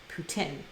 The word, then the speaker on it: poutine: pronounce the word p-o-u-t-i-n-e poutine see i am a transplant to your native land and i came here and i called it poutine and everyone here calls it putin is that like a